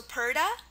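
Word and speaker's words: purdah: Also Purda. Purda is spelled two ways, P-U-R-D-A-H and P-A-R-D-A-H. But anyways, the A-H at the end is the sound, okay?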